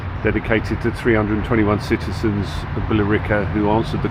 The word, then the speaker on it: Billerica: Essex where we live I don't say Bila apparently it's called bica bica they've changed the sort of pronunciation bilica so we're just going